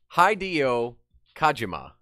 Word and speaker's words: Hideo Kojima: Hideo Kojima. That is the correct pronunciation.